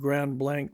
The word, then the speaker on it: Grand Blanc: Nearest were the remains of an Indian village called the Grand Blas, pronounced Grand Blanc. Judge Sprag pronounces the country lying for an extent of several miles on either side of Grand Blank Village, well adapted to the purpose of settlement and cultivation.